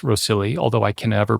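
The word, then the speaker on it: Rhossili: on the Gower Peninsula I think it's pronounced rosilli although I can ever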